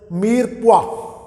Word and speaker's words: mirepoix: It is written as Mirepoix, but if a layman will pronounce it, he will pronounce it Mirepoix. But the pronunciation for this word is Mirepoix.